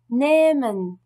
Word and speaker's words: nehmen: Après une voyelle, par contre, le H ne se prononce pas, mais il allonge automatiquement cette voyelle. Nehmen. Prendre. Nehmen.